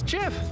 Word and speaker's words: GIF: just don't drink coffee it's pronounced get it's Jiff I like window seats